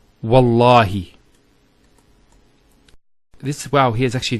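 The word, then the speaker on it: والله: it, and we say Wallahi, this waw here is actually known as Waw al-Qasm, the waw of swearing an oath. So when we put this waw, it's Wallahi, not Wa'allahi.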